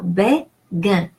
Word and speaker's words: béguin: So G-U-I-N is pronounced gain. So béguin. Pour, O-U is a rule pronunciation, is pronounced OU.